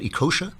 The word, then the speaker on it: Ekeocha: fighting them oh well good luck am i pronouncing your name right ikosha absolutely fine that's great all right you can